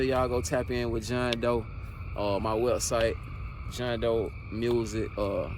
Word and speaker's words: Jean D'eau: go tap in with John Doe. My website, John Doe Music. Actually, my new website is Who Is John Doe, and it's spelled JEANDEAU.